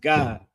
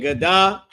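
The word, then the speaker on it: גד: It's just pronounced God, like God and Da connected. Instead of it being Gadah, it's just God, right?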